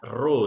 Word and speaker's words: rho: Ini bacanya rho ya anak-anak ya.